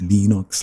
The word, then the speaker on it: Linux: of L lenux lenux my name is lenus tovos and I pronounce Lenox Lenox Linux yes hundreds upon hundreds